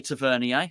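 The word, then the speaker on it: Tavernier: Scott and Smith um tavernia some say tavier only me um Frank s arra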